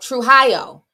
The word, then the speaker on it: Trujillo: And I was saying the thing, wait, how you pronounce it? Somebody wrote in Spanish. Trujillo? Oh, Trujillo.